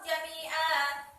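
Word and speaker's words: جَمِيعًا: Aina ma kanu ya'ti bikumullahu jami'an. Ini tidak saya tulis, tapi silakan dibuka buku kalian masing-masing ada. Jami'a itu disebut sebagai bacaan mad iwad. Mengapa disebut sebagai bacaan mad iwad? Sebab jami'an dibaca jami'a.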